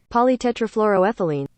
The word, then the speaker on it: polytetrafluoroethylene: Okay, so number four, today I learned that PTFE is pronounced polytetrafluoroethylene.